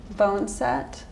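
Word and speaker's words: boneset: Will you hand me the bone set? That's how you pronounce it.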